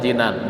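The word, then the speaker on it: جنان: Jadi ee yang benar bacanya jinan bukan janan.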